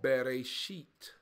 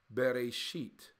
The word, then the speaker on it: Bereshit: But in Hebrew, the book is called Bereshit. Bereshit.